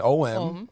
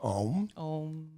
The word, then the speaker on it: Om: So Om as in O-M, Om. Pronounce it right, Om.